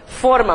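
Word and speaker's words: fôrma: Então, forma, mas cuidado porque é a pronúncia fechada, né?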